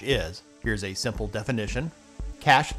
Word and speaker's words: cache: Cash that sometimes people mispronounce as cache is data stored on your computer that can help to make future requests for that data faster.